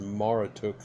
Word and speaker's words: Marduk: the encyclopedia of religion the name Marduk was probably pronounced Mara took and the etymology of